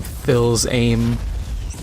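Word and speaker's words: Fils-Aimé: can't remember what is how to pronounce his last name Phil's aim it's f-i-l-s hyphen AME the guy from Nintendo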